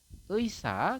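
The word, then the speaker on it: 의사: Jadi ei ini, huruf ei yang satu ini apabila dia di depan maka dia dibacanya adalah ei teman-teman seperti ini. Kemudian ini juga sama, ini adalah eisa, kemudian yang bawah ini adalah eimi seperti itu.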